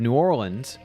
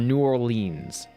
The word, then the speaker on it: New Orleans: No, there are two ways to pronounce the city's name. You have New Orleans or New Orleans.